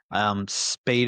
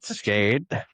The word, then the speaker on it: Skade: Spade is the new one you recently got, correct? Yes. Say it right. Skade.